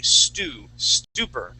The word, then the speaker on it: stupor: Okay, the word would be stupor. It's more of a ooh sound here.